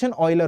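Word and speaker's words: Euler: और इसको हम लोग ऑयलर नंबर बोलते हैं इसको इसका जो स्पेलिंग है ई यू एल ई आर होता है बट प्रोनाउंस ऑयलर होता है ठीक है तो हम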